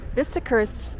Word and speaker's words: Bicester: And uh Bicester's uh pronounced Bicester and it's spelled b i c e s t e r.